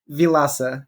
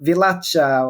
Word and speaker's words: Vilaça: your name correctly yeah as I would say vilasa is how you say it it's outside the first name is quite so is fine but it's more the last name that they go vilacha or vilaka and then that's the